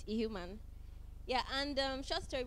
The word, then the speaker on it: Ihuman: is Anita just like you said and it's a human in case you're wondering how to pronounce the second name human yeah and um short story before I get